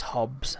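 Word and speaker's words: Hobbes: To make a Calvin and Hobbies joke. Yes, I know it's pronounced Hobbs.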